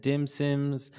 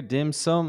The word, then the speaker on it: dim sum: You were talking about Peking duck and dim sims and all about China. almost got it. You mentioned Okay, so as you can see, the AI actually corrected me here. Dim sum is the way it's pronounced.